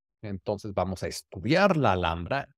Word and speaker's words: Alhambra: el castillo de la alambra entonces en inglés es alhambra Pero acuérdense que la H no se pronuncia en español spanish la alambra vamos a hablar un